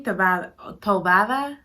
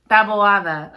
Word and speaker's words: Taboada: to save her from a mysterious doom, Naomi Tovada, I'm trying, you guys. I need somebody with the accent. You gotta say it right. You ain't, there it go. Taboada. Okay, because I'm like, Taboada. No, Taboada.